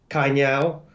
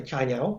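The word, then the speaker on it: Cainiao: are going to be kanyao which i pronounced badly i should say chanyeol which is alibaba for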